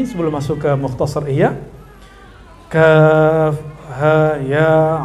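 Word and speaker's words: كاف: Jadi huruf-huruf muqatta'ah ini jika dia tidak ada harokatnya, kan dia tidak ada harokatnya, terus dibaca misalnya kaf, maka dibacanya mad 3 alif. Kaf.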